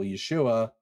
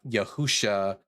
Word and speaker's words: Yeshua: you can know that for example Yeshua is pronounced Yeshua and not Yahusha or Yahawashi.